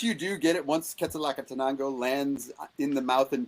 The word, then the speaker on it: Quetzalcoatl: Quetzalcoatl Catanango? Close? About 50% of the way there. Okay, help me. First pass. Quetzalcoatl.